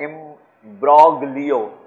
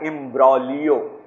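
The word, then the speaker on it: imbroglio: Okay, next word है इम्ब्रोग्लियो। देखिए, याद रखिएगा, ये जी जो है ये साइलेंट है, जी जो है साइलेंट है। इसको इम्ब्रोग्लियो नहीं पढ़ा जाता है, इसको पढ़ा जाएगा इम्ब्रोलियो।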